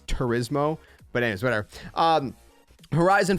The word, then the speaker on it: Turismo: i always say trismo i don't know why it's i know that's not how it's pronounced but it's turismo but anyways whatever um